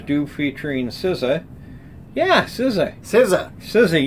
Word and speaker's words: SZA: SZA, you know how to say it now. I do. Not SZA.